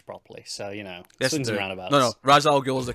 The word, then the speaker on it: Ra's al Ghul: Falcone properly in this movie I don't say race properly so you know Ra's al Ghul's the correct pronunciation I will fight you on this swings